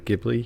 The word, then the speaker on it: Ghibli: uh i think she's saying that you did pronounce it correctly uh ghibli oh and she said it's so good so